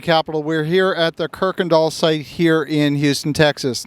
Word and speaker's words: Kuykendahl: we're here at the Kirk andall site here in Houston Texas now the locals pronounce a Kirk andal but there's no R in the name at all uh we're building a